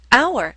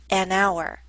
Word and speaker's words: hour: the next example our hour starts with the letter H but we don't pronounce the letter H the first letters that